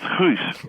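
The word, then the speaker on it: Guus: Well, it used to be Gus with 2 U's, and it's pronounced Huus, which most people can't say because you will have to clear your throat in a particular way when you say it.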